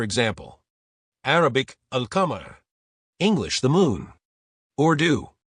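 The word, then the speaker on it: القمر: Arabic, al-qamar. English, the moon. Urdu. Say it clearly as al-qamar. Urdu. The moon. Saf saf kahi, al-qamar.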